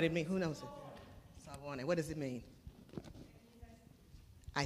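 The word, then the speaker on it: Sawubona: I think I would say Sayubwana. It means, say it. Who knows it? All right, say it. Who knows it? Then you know what it means. Who knows it? Sayubwana.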